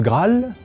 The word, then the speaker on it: Graal: dans quelques emprunts le Graal gr R a al l un n n a n qui désigne un pain indien les deux a se prononcent alors comme un seul en revanche dans les